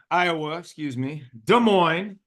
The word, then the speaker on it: Des Moines: And you did say Des Moines right. So yes. The S is silent. You're good. Love it. So it's like Illinois.